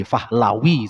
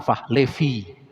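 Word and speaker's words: Pahlavi: Muhammad Reza Fahlevi kalau gak salah dia itu generasi kedua dari bukan Fahli Fahlawi sebetulnya kalau ditulis ejaan Barat jadi Fahlevi. Fahlawi itu kalau bacaan bahasa apa namanya? Bahasa Suryani dan bahasa Arabnya Fahlawi.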